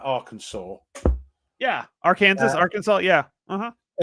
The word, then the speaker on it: Arkansas: word and then uh which is why it's it's it's Arkansas yeah not that makes sense because that was there was not a law but a thing put through saying this is the only way to say this word is now Arkansas with giving respect to the French um it's actually illegal to say AR Kansas by the way I'm